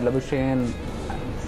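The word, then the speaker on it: Labuschagne: और more than Smith, more than लबुशेन, since that is the pronunciation we use nowadays.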